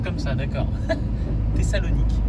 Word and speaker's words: Thessalonique: Ah, ça se prononce comme ça, d'accord. Thessalonique. Thessalonique.